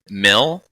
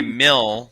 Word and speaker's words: MIL: and abbreviate it mhm Mill okay but you have to be very careful how you say it yeah my Mill not mil right my Mill I've never seen it